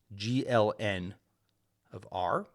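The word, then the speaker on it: GLn(R): of invertible matrices with coefficients from R we pronounce this gln of R it's a set of all matrices with nonzero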